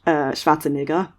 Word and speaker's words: Schwarzenegger: Correctly it would be pronounced Schwarzenegger.